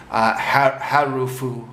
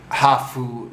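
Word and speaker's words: ハーフ: It's a loan word from English. It's usually pronounced with a Japanese accent. So harufu, or sorry, that was a bad attempt at a Japanese accent. Hafu, something like that.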